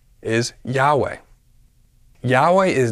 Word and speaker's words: Yahweh: four vows I a iota Alpha Epsilon and alpha pronounced as Yahweh we don't see how this solves their problem this would have Josephus agreeing that the pronunciation of the name is Yahweh Yahweh is not the